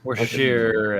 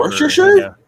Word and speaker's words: Worcestershire: well, it tastes like all the shit that you put into it, like Uh, Worcestershire and whatever. Worcestershire? Yeah, Worcestershire.